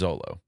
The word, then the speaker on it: Xolo: Yeah, Xolo. Yeah. Maraduena? Yes, but his name is Zolo.